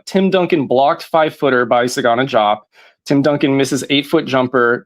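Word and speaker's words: Sagana Diop: way it was, but Sagana Jop. I took four years of French and I can't explain to you why we don't pronounce the D and Desagana drop.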